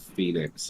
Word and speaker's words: Phoenix: Oh, E is a long E sort of sound. Phoenix, Arizona is pronounced Phoenix.